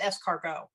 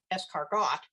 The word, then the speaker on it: escargot: I learned how to how to pronounce it that it wasn't escargot um I I was